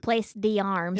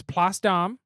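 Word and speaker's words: Place d'Armes: you last time and it's not pronounced place the arms it looks like it should be placed a arms but it's pasta and at least that's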